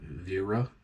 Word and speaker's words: Wera: some might pronounce it Wera. It's German.